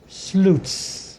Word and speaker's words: Slutes: Pronounced Slutes. German. But if you look at it, it doesn't look like Slutes. So my grandmother, when she divorced my grandfather, at least decided to give herself a phonetic fighting chance and moved an E and S, like rhyme with flutes.